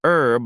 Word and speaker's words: herb: Then why do you pronounce herb like you've shoved it off a cliff? Ethan frowned. What does that mean? You dropped the H.